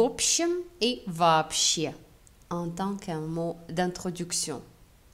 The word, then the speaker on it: вообще: Il n'y a que des mots вообще avec accent tonique sur la dernière syllabe.